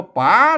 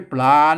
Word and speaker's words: ป๋า: ตัว สุด ท้าย เนี่ย เพิ่น อ่าน ว่า ป๋า นะ ครับ ไม่ ใช่ ไม่ ใช่ ปลา นะ ไม่ ใช่ ปลา